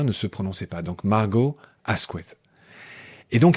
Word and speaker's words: Margot: à la fin ne se prononçait pas donc Margot Asqu et donc à un moment donné de